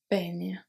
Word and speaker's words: baigne: Baigne. So the E is silent.